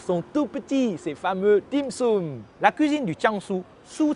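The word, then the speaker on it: 點心: Dim sum est la prononciation en cantonais du mot tian xin, tian, une goutte, xin, le cœur.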